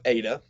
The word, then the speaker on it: eta: this one's probably bad so that's ada long a sound a y sound next one is theta